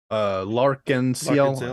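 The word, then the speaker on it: L'Arc-en-Ciel: Hyde from Lark-and-Ciel, is that how you say it?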